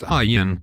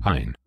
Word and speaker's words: Ayn: Her name is pronounced Ayn, not Ayn. No, I'm pretty sure it is pronounced Ayn.